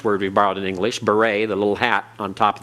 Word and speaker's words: beret: wears a beret well that e t at the end the t is silent and that e is pronounced and long a it's like the the a like in the uh Spanish senor the a sound uh that's the two